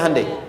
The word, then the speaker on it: Hyundai: Kita bisa kita dari tekad sehingga ketika di sana bikin Honda sini Hande Hyundai kan dibacanya Handai ya kan sana Honda